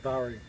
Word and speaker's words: Subaru: this is a 2009 saari Forester and it's in New Zealand so it's pronounced saaru and I need to